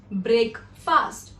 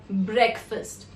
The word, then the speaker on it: breakfast: It is often mispronounced as breakfast because of two different words which are pronounced differently by people, which is break and fast. So we often combine these to say breakfast, but that's the incorrect pronunciation. The right way to pronounce it is breakfast, where you don't say fast, you say first, and you don't say break, you say break.